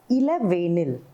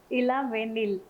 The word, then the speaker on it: Elavenil: So you pronounce it as Elavenil. Elavenil. Elavenil.